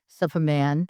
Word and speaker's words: Supaman: which is Raising Supaman. Mhm. Pronounce it for me. You're fine. Soup. So think of Soup. soup like a bowl of Like soup. it's Superman without the R, Without the R because I right?